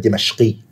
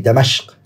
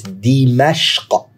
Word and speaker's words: Dimashq: And some scholars, they actually say, Al-Harraniyu thumma Dimashqi. Okay? By the way, some people, they say Damashq. It's actually not, it's Dimashq. Dimashq. Okay? Dimashq, off like that, that's how you say it.